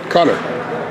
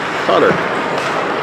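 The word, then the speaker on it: Cuttler: Cutter. If I'm not mistaken. Pretty sure. Look for that L. I think there's a silent L in.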